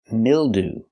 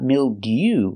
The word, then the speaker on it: mildew: Example, mildew. That's right, not mildew, but mildew. Ooh. We're using the most common pronunciation of EW at the end.